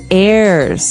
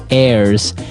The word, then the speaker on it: heir: pod, and to his heirs. This is our next word. What is an heir? Now, if you notice, the h is silent there. So his heirs and that th those